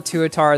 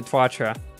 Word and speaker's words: Tuatara: I'm gonna wait then I did used to call the Tuatara the twatra I thought that's how it was pronounced for so long it's plainly wrong you have the underlying